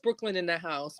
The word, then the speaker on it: BKLYNNDAHSE: On Instagram, it's pronounced Brooklyn in the House, but it is spelled out BKLYNNDAHSE.